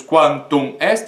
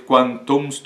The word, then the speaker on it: quantum est: Por exemplo, aqui, quantum est, nós não dizemos quantum est, e sim quantumst.